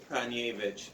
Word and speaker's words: Praniewicz: Is it Praniewicz? It's Praniewicz. Praniewicz. Oh, I always say it wrong then.